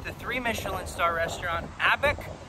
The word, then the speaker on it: ABaC: three michelin star restaurant abec before i understood how to pronounce it i was saying a b a c capital c at the end lowercase a i don't know but it's